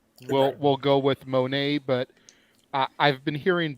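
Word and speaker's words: Moné: couple people tell me it's money because it's playing off of the Sasha Banks so Mercedes money until I hear it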